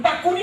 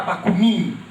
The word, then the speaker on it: Bakunin: A 2 de setembro de 70, o bacuni é aquele que vocês insistem em chamar bacunin na pronúncia francesa. Os portugueses transportaram para Brasil a pronúncia francesa dos nomes russos.